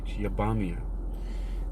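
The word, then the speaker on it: Iabamiah: all right let's see the pronunciation of this next Angel is uh yepamia it's spelled i-a-b-m-i-a-h yabamia word of God creating on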